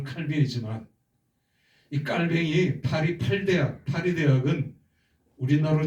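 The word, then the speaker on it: Calvin: 그래서 깔뱅 발음을 깔이라고 얘기를 합니다. 영어식 발음은 칼빈이지만이 칼뱅이 파리 팔대학 파리 대학은 우리나라로 치면 서울대학이지만 당신은 세계 최고의 대학이었어요.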